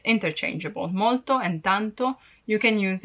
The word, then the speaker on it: molto: My tip is to use tanto because if you cannot pronounce molto in a perfect way, you may be misunderstood, and if you say morto, it means dead.